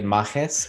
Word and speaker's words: Mages: a made-up word but it's essentially it's pronouncing the word mage you know you know with uh i guess latin flavor so i'm ready for